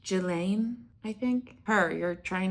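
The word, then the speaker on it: Ghislaine: So, sh you're thinking of letting Jelene Maxwell out of prison. It's pronounced Gelain.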